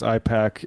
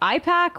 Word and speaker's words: AIPAC: To be fair, David was mispronouncing AIPAC as IPAC like 13 years ago.